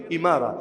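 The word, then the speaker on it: إمارة: United আরব আমিরাতস ওই এমিরাত যেটা আমিরাত যেটা ওইটারই আরবি উচ্চারণ হলো ইমারা। মূল উচ্চারণ ইমারা।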